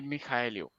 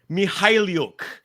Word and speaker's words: Mikhailiuk: this YouTube page that tells us how to pronounce his name? Svi Mikhailiuk. Mikhailiuk.